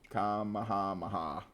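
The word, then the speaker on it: Kamehameha: pretty quickly in Honolulu you ready for this pronunciation yep comma hamaha Kami hamaha kamahamaha y you got it man that was the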